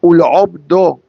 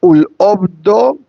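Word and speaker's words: ולעבדו: Why do I need to pronounce the ain so strongly? Short answer. Because if I don't say ul obdo, which means to serve God, and I say ul obdo, you're saying get rid of God.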